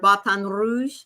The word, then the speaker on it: Baton Rouge: Batan Rouge. Got to roll that R.